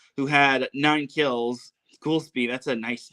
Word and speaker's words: Goulsby: It was spel it's spelled it's not spelled ghoul like G O U L. It's spelled uh G O L S B Y.